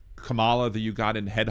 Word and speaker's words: Kamala: that you believe that any spelling of that combination of letters is pronounced Kamala instead of Kamala. So maybe that has caused you to uh believe that that her name is pronounced that way.